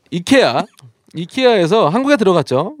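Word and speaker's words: IKEA: 아이키아 한국에서 이케아라고 하고요. 사실 이케아가 맞는 단어니까 이케아로 갔을 거예요. 근데 미국에서 그냥 미국에서 자기들이 아이키아가 편하니까 아키아라고 한 거 같아요. 이케아가 원래 그 나라 발음이겠죠.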